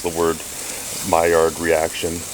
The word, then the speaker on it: Maillard: to pronounce the word Maillard reaction. Maillard reaction. She said, it sounds to me like my yard.